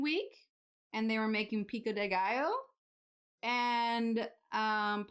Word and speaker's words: pico de gallo: and they were making pico de gallo and um Paul Hollywood was pronouncing it what was it picca de gallo he was calling it picca de gallo and I was just